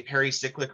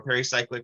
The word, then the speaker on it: pericyclic: All right, so these pericyclic reactions, they're really interesting in that what makes them a pericyclic reaction or pericyclic reaction, two pronunciations for the same thing, is that they're not ionic or radical based.